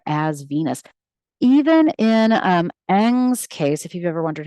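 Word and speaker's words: Ingres: Venus even in um Ang's case if you've ever wondered how to say this artist's name it's sort of Ang French you know for getting a whole bunch of letters in this case we have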